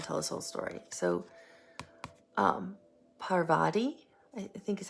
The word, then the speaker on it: Parvati: So, Parvati, I think is how you say her name,